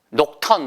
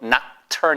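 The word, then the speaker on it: nocturne: 그래서 부드러운 피아노 의 발라드 곡을 4 우리가 녹턴 높은 이라고 하잖아요 높으니 아니고 미국식 발음 해야 되니까 l 우리가 복수나 혹성 아니죠 팝송과 박수 접 악스 그래서 애도 낙천 이 해보세요 낙찰 나 잘 이게 낙천 이에요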